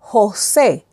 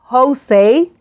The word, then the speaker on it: José: For example, José, José. We don't say José, José.